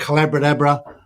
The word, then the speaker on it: Collaboradabra: It's called Collaboradabra, rhymes with abracadabra.